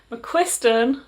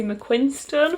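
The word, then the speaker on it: McQuiston: last stop by casey mcquisten so i realized i've been saying their name wrong i'm saying casey mcquinstern for a long time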